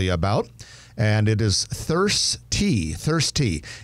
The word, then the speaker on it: Thirstea: It's spelled THIRSTEA, all one word. Thirsty, one word.